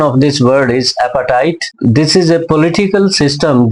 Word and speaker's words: apartheid: Apartheid, pronunciation of this word is appetite.